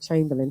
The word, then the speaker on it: Chamberlain: We pronounce it Chamberlain. It's quite funny, isn't it?